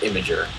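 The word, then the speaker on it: Imgur: bit I am GUI and then yeah it's pronounced imager we know it's in there but that it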